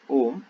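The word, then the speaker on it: ohm: जो रेजिस्टेंस की यूनिट रहती है उसको कहते हैं ओम, ओ एच एम, ठीक है क्या, इट is pronounced as ओम, H silent, ठीक है क्या, यूनिट ऑफ रेजिस्टेंस इज ओम, ठीक है क्या, ओ एच एम ऐसा।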